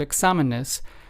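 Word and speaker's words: exámenes: the letter X in the word examenes, because that lets us know that that is where the the stress or the emphasis must be added.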